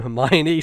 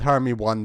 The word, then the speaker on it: Hermione: harry potter uh hermione my mother didn't know the name hermione so for the first three books when she was reading to me uh when i was younger uh we called her hermione uh so she was she was known as i've also heard her me one before yeah yeah i just